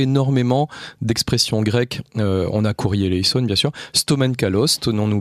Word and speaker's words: Kyrie eleison: Vous allez entendre 3 fois Kyrie eleison, alors prononcé à la syriaque, c'est Kyrie eleison, et on en reparlera après.